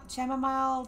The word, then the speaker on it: chamomile: The chamomile tea had truly warmed my body and calmed my heart. You don't pronounce the H. Oh. It's just chamomile.